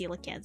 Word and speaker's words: coelacanth: It's actually pronounced coelacanth, but I just say Coelacanth.